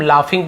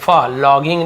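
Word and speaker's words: laughing: तो इसे हम लाफिंग पढ़ेंगे, लॉगिंग नहीं पढ़ना, लाफिंग।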